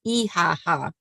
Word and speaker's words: IHH: Freedoms and humanitarian relief ihh or as we learned in Turkey pronounced eaha which is the third largest